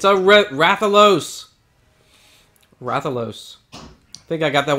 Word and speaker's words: Rathalos: Rathalos. I think I got that one right, actually. How to pronounce that one.